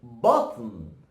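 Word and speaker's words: بطن: You know, if you pronounce it, you know, in a slow motion, it's gonna be like BaTn. BaTn. BaTn. But if you're gonna say it fast, you're gonna go like BaTn.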